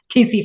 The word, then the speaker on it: tsetse: It was funny because the tsetse flies, is that how you say it? yeah, TC flies.